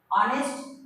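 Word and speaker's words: honest: ऑनेस्ट, ऑनेस्ट में देखिए एच से तो शुरू हो रहा है, लेकिन इसका हिंदी उच्चारण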